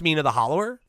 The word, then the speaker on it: Mina the Hollower: I mean, it's I It's pronounced Mina the hollower, but Oh.